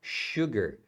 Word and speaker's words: sugar: E açúcar é sugar. Sugar. A palavra se escreve com S, mas é falada com um som de X aqui, tá?